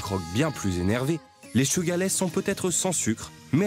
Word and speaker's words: Suga/es: Sugar S, à prononcer Sugarless, est un groupe plein de surprises.